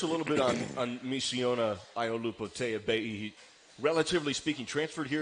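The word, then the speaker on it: Aiolupotea-Pei: Kind of sounds like potato baby, and it's Iolupo Teabei, and it's with a P, but it's actually pronounced like a B.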